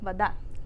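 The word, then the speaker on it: вода: So for this one, we write voda, water, but we say vada. And so the stress is on that second syllable.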